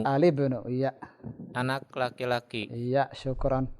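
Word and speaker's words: الابن: Nah, Alibnu. Al-ibnu, mumtaz. Itu dia. Bukan al-ibnu, tapi Alibnu. al-ibnu.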